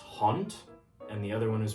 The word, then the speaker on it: hond: So, you can see in the first word, even though it ends in a d, it's being pronounced as a t.